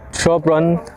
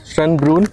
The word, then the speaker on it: Schönbrunn: And right now I am here at Schönbrunn Palace. I think I am saying it correctly. Let me check. But not me, not me. Yeah, as expected, I said it wrong. It's Schönbrunn Palace.